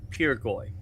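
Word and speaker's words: pirgoy: Pirgoi, spelled P-I-R-G-O-Y, and is pronounced P-E-R-G-O-Y. Pirgoi, pipe or tube.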